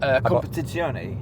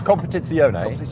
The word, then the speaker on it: Competizione: Competizione. Well, the Abarth bit. Abarth. Yeah. I'm asking you as a native. Abarth. It's Competizione.